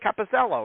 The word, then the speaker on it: Capoziello: You told me how to say it, Capoziello, right? And I'm like, why am I there you go. That was right that time.